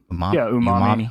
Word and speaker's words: Umami: Umami. Umami. Like it's the flavor in Japanese cuisine.